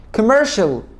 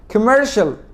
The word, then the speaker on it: commercial: بص يا سيدي، اول ما تلاقي حرف السي جه بعديه تو فاولز بنطقوا شين. تو فاولز، ايه هم الفاولز؟ A I O U E. أول ما تلاقي حرف السي جه بعديه حرفين من دول بنطقوا شين، زي كلمة ocean، زي كلمة إيه كمان؟